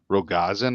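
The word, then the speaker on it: Rogozin: the space chief the russian space chief dimitri rogazan i think is how you say his name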